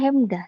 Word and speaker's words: Hemdah: Pelafalannya Hemdah ya.